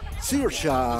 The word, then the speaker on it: Saoirse: My name is Saoirse Ronan.